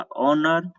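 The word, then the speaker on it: honour: आप देख लीजिए जो भी वर्ड्स यहाँ पे 6 वर्ड्स लिखा है ऊपर, 6 वर्ड्स में सबका एच साइलेंट होता है।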